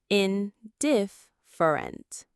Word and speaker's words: indifferent: The stress is on that second syllable. Diff. Indifferent.